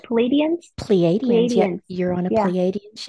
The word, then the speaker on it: Pleiadians: Pleiadians.